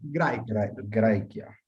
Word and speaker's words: Graecia: Recuerden que AE lo pronunciamos, esto no lo explicamos aún en detalle, pero si recuerdan mi lectura, Graecia. Graecia.